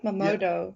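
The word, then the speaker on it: Mamoudou: Mamodo.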